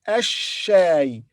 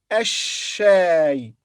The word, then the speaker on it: الشاي: هل تحب, and then here it's a shay preceded by al, the, but lam here is silent, so we say ash-shay, then shadda on sheen, so we say ash-shay. Lam is silent.